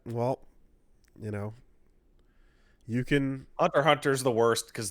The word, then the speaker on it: Hunter x Hunter: Well, you know, you can Hunter Hunter is the worst cuz the X is just not pronounced.